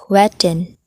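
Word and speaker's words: jueteng: first what is jovating so juvede that tagalog pronunciation is wetting is an illegal numbers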